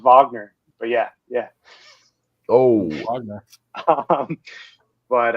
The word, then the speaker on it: Wagner: on to play at Wagner uh college for for a season no Seahawks the Raging cents wag I it's pronounced Vagner but yeah yeah oh